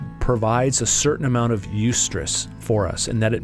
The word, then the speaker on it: eustress: And really what this boils down for me is this idea that there's a certain amount of stress called eustress, and it's spelled E-U-S-T-R-E-S-S, eustress.